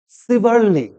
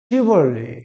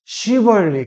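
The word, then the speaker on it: chivalry: অনেকেই বলে সিভারলি। কি বলে? সিভারলি, সিভারলি না, সঠিক উচ্চারণ হবে কি? শিভারলি। কি হবে? শিভারলি।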